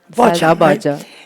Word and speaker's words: Bağcan: from uh Turkey named Selda How do you pronounce her last name? Selda is right. Sel Bağcan And you know, her song Yas Gecesi Yas